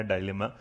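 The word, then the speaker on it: dilemma: एक वर्ड आया था मोरल डिलेमा या डायलेमा, DILEM। अगर इसको पढ़ा जाए तो क्या बस कुछ मत करना, जैसे है ना दिल में माँ, दिल में माँ। आप डिलीमा पढ़ लोगे तो इसका मतलब प्रोनाउंसिएशन के उसमें आपको ना आसान हो जाएगा।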